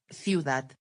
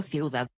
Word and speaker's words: ciudad: Cuando las palabras agudas, con la sílaba fuerte en última posición, terminan en una consonante diferente a n, s o vocal, no tienen acento gráfico. Ciudad, ciudad. No ciudad.